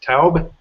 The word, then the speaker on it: Taub: I've got Alex Taub. Is that how you pronounce it?